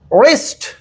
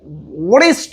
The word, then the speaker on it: wrist: WRIST রিস্ট, মুরিস্ট হবে না, কি হবে? রিস্ট। নিয়মটা আবারও একবার রিপিট করি, ডাব্লিউ এর পরে যদি আর থাকে তাহলে ডাব্লিউ উচ্চারণ হয় না। এই কারণে এই যে কালো কলম দিয়ে লেখা সবগুলো ডাব্লিউ শুধু লেখার মধ্যে আসবে, কিন্তু উচ্চারণে আসবে না। আশা করি এই বিষয়টা আজকে জানার পরে কখনো এখন থেকে ওয়ারাইট বলবেন না, ওয়ারেব বলবেন না, ওয়ারং বলবেন না, তারপরে ওয়ারিস্ট বলবেন না।